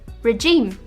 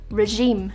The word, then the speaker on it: regime: Some people are guilty of using the wrong G sound with this word. Some people might say regime, but it's actually regime.